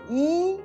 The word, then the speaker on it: 一: Donc, le caractère yi qui est devant le caractère pin, je le change en quatrième ton.